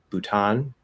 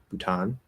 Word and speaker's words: Bhutan: i'd probably say um bhutan bhutan some people might say bhutan i'm not sure but i i think i've heard bhutan more uh gambia i think